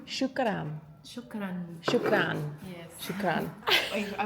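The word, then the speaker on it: شكرا: Shukran. Shukran.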